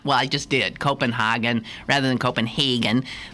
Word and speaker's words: Copenhagen: to the city as Copenhagen. Well, I just did. Copenhagen rather than Copenhagen. The Danes don't like the pronunciation Hagen. It is the way Germans pronounce the city's name, and they don't like the Germans.